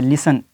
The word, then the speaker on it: listen: Part ये है कि अगर टी से पहले एफ़ या एस आ जाए तो यहाँ पर टी आवाज़ नहीं देगा, साइलेंट रहेगा।